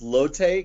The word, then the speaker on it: Lotte: I want to also add in it's pronounced Lotte.